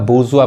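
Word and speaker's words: bourgeois: गलती पढ़ते हैं ये देखिए क्या पढ़ाए का बुर्जुआ पढ़ाए बुर्जुआ इसका मतलब क्या होता है जी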